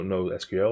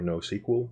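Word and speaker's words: NoSQL: is an OSU no no SQL or no sequel I've heard it pronounced sometimes database which means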